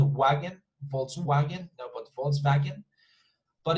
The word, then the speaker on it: Volkswagen: is not a wagon volkswagen nobody falls back in but in german they would pronounce this as a fee as an f sound i'm sorry f f so volk is not vault but folk folk you see folk